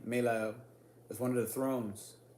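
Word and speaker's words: Melahel: That's how you properly pronounce this name. Melael is one of the thrones.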